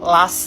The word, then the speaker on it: last: Tadi kan kamu nyebutnya less summer, ya. Yang benar itu last summer. Jadi, kalau kata-kata less itu salah. Last itu tuh dibacanya last, bukan less.